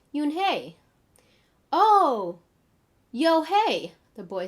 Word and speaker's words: Unhei: name the girl asks you hey she said oni the girl said scrunching her face up me some kids chanted no no hey corrected it's spelled u-n-h-e-i it's pronounced yoon hey oh yo hey the boy said like you